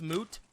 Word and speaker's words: Mutt: It's pronounced Moot. I mean, we can just call him Moot if you want. Yeah. Sure, Moot it is. Kind of like Groot, but with an M.